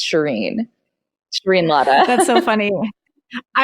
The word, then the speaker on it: Shereen: I'm even adamant with brown people that it's Shereen Shereen Ladha.